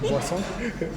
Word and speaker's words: boisson: Boisson.